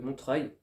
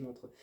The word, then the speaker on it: Montreuil: livre de Montreuil de Montreuil chaque fois j'insiste pas sur la dernière syllabe et les gens pensent que je dis Montreux donc le 3 et